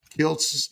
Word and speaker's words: Kiltz: Can't wait to start making Kilts ice cream. K I LZ is how my name used to be spelled. So I added a T so they pronounced it properly, which Kilz is Kilts.